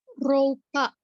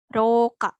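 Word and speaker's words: ろうか: sedikit menyinggung ini tuh kalau ada u berarti di bacanya panjang jadinya Roka Roka Roka gitu ya jadi u nya nggak dibaca dibacanya panjang ruka oke nah ini artinya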